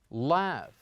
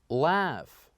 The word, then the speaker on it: laugh: pH letters inside and for the last one laugh laugh laugh so what do you think is it